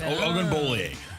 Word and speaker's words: Ogunbowale: Ogunbowale. It's yeah. There's like an extra syllable in there that we skipped over.